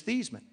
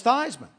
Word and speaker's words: Theismann: to me he say Joe how do you pronounce your last name I said it's thasan he said no it's not it's thyman I said no it's not it's thian he